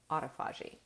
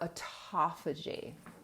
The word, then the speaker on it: autophagy: Please, can you explain autophagy? Okay, or autophagy. I see it pronounced both ways.